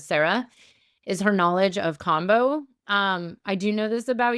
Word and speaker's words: Kambo: I've never confirmed the right way to say it, but I say it as Kambo. It's the American thing.